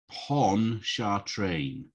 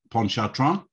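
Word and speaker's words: Pontchartrain: live off of okay i want to say pon cha train without the t pawn shot ponchatron yeah i think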